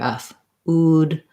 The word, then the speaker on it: food: Also with food, if you're having trouble with the oo, you might just try doing ood, starting on oo, so that you have the right shape for the oo sound, and then add your f. Ood, food.